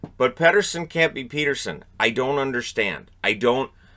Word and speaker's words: Pettersson: of a big deal when I was saying Peterson. People were getting mad at me when it was Pettersson who wanted people to say Peterson. And it never caught on because people flat out refused.